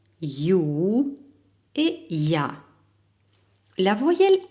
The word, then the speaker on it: ё: Voyelle yo, yo. Il est orthographié comme E plus tréma, prononcé comme yo en yo-yo.